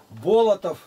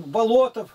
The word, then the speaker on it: Болотов: Болотов. Болото. А другого встречаю, он Болотов, то есть ударение ставится, а фамилия та же самая.